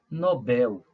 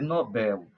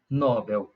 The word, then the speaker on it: Nobel: a pronúncia correta é Nobel como a palavra não tem acento não tem assunto algum isso nos dias que a sua sílaba tônica é Bel portanto a pronúncia deve ser Nobel jamais Nobel Ah e quem foi